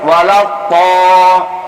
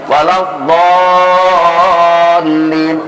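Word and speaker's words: ولا الضالين: Jadi sehingga sering bacanya walau to, jadi to. Iya. Jadi letakkan ke samping kiri atau samping kanan lidah itu. Walau dallin, do biar tahan. Walau dallin.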